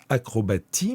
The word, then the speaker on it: acrobatie: Acrobatie, le S de acrobatie s'écrit avec un T. Ça s'écrit acrobatie, mais ça se lit acrobatie.